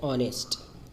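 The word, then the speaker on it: honest: है जैसे एक ईमानदार एंड ऑनेस्ट तो यहां पर की आवाज नहीं निकल रही है जो साइलेंट है तो इसीलिए इन लगाएगा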